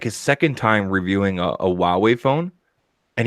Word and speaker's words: Huawei: It was like his second time reviewing a Huawei phone, and he didn't know how to pronounce it. He called it Hawaii.